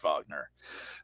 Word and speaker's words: Wagner: It's spelled Wagner, and so my brain always thinks Wagner, but it's pronounced Wagner.